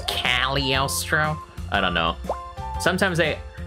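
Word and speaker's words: Cagliostro: castle of costro Yes actually it's pronounced calostro I don't know sometimes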